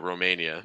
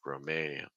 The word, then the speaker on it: Romania: another one final country Romania stress Maine okay watch out as you're saying Maine by the way for that a sound like it to the end so it's a it's not a Roma it's Roma keep the placement low lots of breath Roma and then again the E like we've seen in so many countries E Romania Romania you could say it